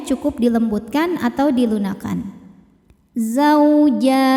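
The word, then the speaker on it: زَوْجَانِ: Ketika berhenti di jan, hukumnya adalah mad arid li sukun. Karena mad tabi'i bertemu dengan huruf yang disukunkan karena waqaf. Mad tabi'inya fathah panjang pada huruf jim, huruf yang disukunkannya nun. Maka jimnya ini panjang, boleh 2, boleh 4 atau 6 harokat asal konsisten dalam satu kali baca.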